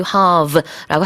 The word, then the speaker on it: halve: 이게 동사냐 명사냐에 따라서 그렇게 사용할 수 있고 발음할 때요. 좀 늘리셔야 돼요. 네. 미국 발음도 그렇고 영국 발음도 그래요. 물론 가운데 있는 모음의 발음은 좀 다르지만 이게 길게 발음한다는 건 똑같습니다.